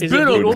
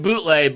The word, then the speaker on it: Bootle: time and take DiCaprio Bootle. I'm not sure which. I really need to figure this out. It's Bootle. Greg calls it bootleg, but I've been pretty sure it's Bootle this whole time.